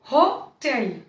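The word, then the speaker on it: hotel: में होगा, होना, वही वाला हो लगा लीजिए, हो टेल, हो टेल।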